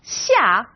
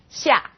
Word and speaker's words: xia: Now this sound is somewhere in the middle of SH and S.